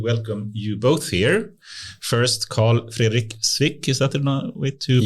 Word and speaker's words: Carl-Fredrik Swic: First, Carl-Fredrik Swic, is that the way to pronounce it?